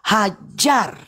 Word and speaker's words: Hajar: Tapi giliran Hagar, mereka nggak mau. Mereka baca Hagar. Ya saya luruskan, Hajar.